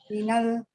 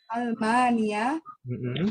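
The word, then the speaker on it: ألمانيا: Oh iya, minal. Jangan minal, itu bukan alif lam yang kita kenal. Itu itu hamzatul qat'i itu. Dibacanya a. Minal. Bukan minal. Oh iya, itu. Min amania. Min amania. Almania.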